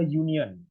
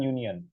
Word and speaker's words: union: Nah, untuk yang union ini dia bacanya, kita bacanya kan pakai y, pakai y. Jadi pakainya a union, bukan an union.